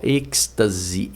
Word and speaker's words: êxtase: Êxtase. Êxtase, pessoal, aqui nós temos Aqui nós temos basicamente, ó, êxtase.